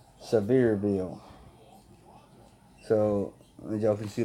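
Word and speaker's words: Sevierville: headman Tennessee so severe it's actually pronounced severe bill so they jump you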